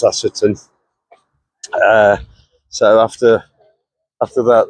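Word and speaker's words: Ashopton: I think it's pronounced Ashetton.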